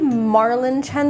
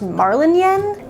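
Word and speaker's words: Marlinchen: I know that the author calls the main character Marlin Chen, but I believe Marlin Chen, the way it's spelled, is a German name, and it should be pronounced Marlin Yen.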